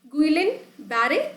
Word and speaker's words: Guillain-Barré: Guillain-Barré. Somebody will call Guillain, so you can do pronunciate that as well, but the most appropriate pronunciation would be Guillain-Barré syndrome.